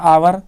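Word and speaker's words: hour: एन आवर, तो आवर का उच्चारण ऐसे होता है आवर, तो आ, इसलिए यहाँ पे एन का प्रयोग हो गया क्योंकि भावेल साउंड है।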